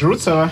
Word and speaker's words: Rucava: We pronounce it like Rukava. We say Rucava, but you – Rukava.